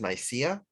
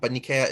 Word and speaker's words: Nicaea: The city of Nikea is usually pronounced in the West as Nicaea, but Nikea is the Greek name.